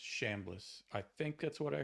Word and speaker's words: Chambliss: It's spelled CH. I know. But I think it's pronounced Shambliss.